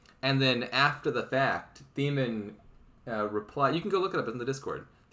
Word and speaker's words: Theman: It's Theman. This came up last time I was commentating one of their games. Everyone in comments was just like, "You fool! It's clearly the man."